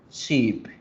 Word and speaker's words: sheep: casi que igual, pero lo que no la diferencia es una sola vocal, la vocal larga. Entonces miren, oveja se pronuncia sheep, sheep, sheep.